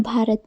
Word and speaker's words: भारत: तो दोस्तों, जब बी के बाद H आए तो हम उसका उच्चारण भा करते हैं। जैसे कहीं भी आपको BH दिखे तो उसको हम भा पढ़ेंगे। जैसे कि BHUSHAN, इसको हम भूषण पढ़ेंगे।